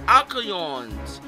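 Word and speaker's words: Alcyone: Other guys here, Alcyons, that's how I pronounce the name, 430 HP, they're weak to fire!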